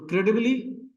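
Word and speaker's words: incredibly: तो क्रेडिबली में क्रे जो है ये स्ट्रेस है, क्रेडिबली साउंड लंबा भी है, हायर भी है।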